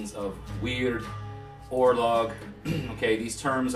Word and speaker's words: wyrd: here on the screen it looks like wire or word almost but it's pronounced weird and it encompasses a